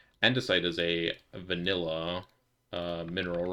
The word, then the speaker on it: andesite: Adnesite. Oh, hold on. We can get some adnocite dust. Adnesite is a an endicite. I was saying it wrong. Andesite is a vanilla uh